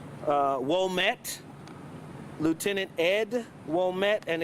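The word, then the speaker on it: Ouimette: It's pronounced Womet, Lieutenant Ed Womet, and it's spelled O-U-M-I-E-T-T-E.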